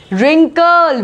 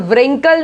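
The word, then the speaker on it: wrinkle: रिंकल, जो झुर्री आ जाती है ना उसको बोलते हैं रिंकल, व्रिंकल नहीं।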